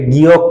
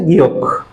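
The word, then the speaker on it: 기역: এখন আমি একটু আগেই বলেছিলাম ক্লাসের শুরুতেই যে স্যার, আপনারা অনেকেই আছেন এটাকে গিয়ক পড়েছেন। গিয়ক অ্যাকচুয়াল উচ্চারণটা হচ্ছে গিয়ক, বাট গিয়ক আসলে কোনো কাজে লাগে না, গ কাজে লাগে।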